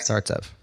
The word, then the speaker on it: Startsev: next week and your last name startsev startsev correct startsev okay FAS your last name no I'm not